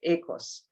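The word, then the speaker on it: οἶκος: we move to oikos oikos is a greek word and greek pronounce it echos and when i heard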